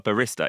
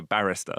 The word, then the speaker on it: barrister: Barrister Barrister yeah well just if you get the accent wrong it sounds like they work in Starbucks isn't it is this the same word no it's not a barista it's a barrister Barrister yeah oh actually